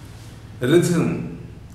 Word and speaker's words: rhythm: Rhythm, rhythm, R-H-Y-T-H-M, but the ha sound is not there.